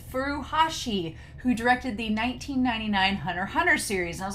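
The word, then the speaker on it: Hunter x Hunter: point to make that you say hunter hunter so you say spy family and x is silent and i was like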